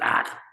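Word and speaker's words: Eyke: His name is Ike, E-Y-K-E, which is Anglo-Saxon for oak. Over there, they pronounce it Ak. And I call him Ike.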